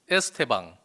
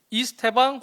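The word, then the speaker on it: Estêvão: 우리 국리버 표기원에 따라서 브라질, 포르투갈어의 앞에 E, 알파벳 E를 E 발음으로 하라고 하는 것 같더라고요. 근데 실제로 이 선수 이름을 코멘테이터나 들어보면 애가 더 가깝긴 해요. 에스테방. 이 발음이 약간 묵음처럼 잘 안 들리긴 합니다.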